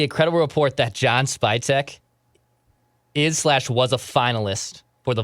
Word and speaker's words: Spytek: The name's Spytek.